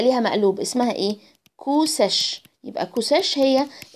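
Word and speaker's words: sech: تمام، هتضحكوا شوية من النطق في الأول لأنكم مش متعودين، بس شوية كده ولما نتعود هنقولها بمنتهى السهولة عادي. ساش هي مقلوب الكوشاين، يبقى 2 على اي اكس بلس اي ناقص اكس، دي ساش.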